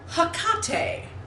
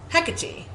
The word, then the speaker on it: Hecate: I believe it should be Hecate, that the first syllable gets it.